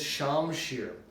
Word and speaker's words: shamshir: with this wonderful object right here a Persian shamshir sword from the 17th century now this type of sword is incorrectly called a scimitar but the correct pronunciation is shamshir this particular one is a very exceptional sword